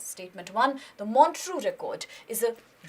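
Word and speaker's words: Montreux Record: talks about something that's called monu record it's pronounced as the monu record and it is basically an index it is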